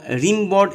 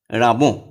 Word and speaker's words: Rimbaud: তোমরা রিমবর্ড এইভাবে বানান মনে রাখার জন্য এইভাবে বলবে, RIMBAUD, বলে বানান ভুল হতে পারে। Actual pronunciation রাবো।